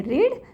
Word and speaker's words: read: लेना पड़ता है कि ये जो वर्ड है READ, इसके 2 वर्ड्स प्रोनाउंस होते हैं, एक होता है रीड, एक होता है रेड।